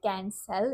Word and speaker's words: CanSell: People get confused because if you don't say it right, can sell, it can sound like cancer.